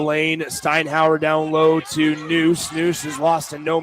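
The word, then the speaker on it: Nuss: The 5'11 senior spelled N USS pronounced Noose is going to the line to shoot one more.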